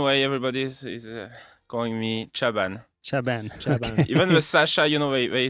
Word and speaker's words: Chaban: Chaban in French, but Chaban Chaban. in English, I guess. Chaban. Yeah, Chaban.